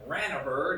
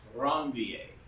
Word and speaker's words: Ranvier: Now, yeah, if you want to pronounce it Ranvier, that's fine, but it's pronounced with the French name Ranvier.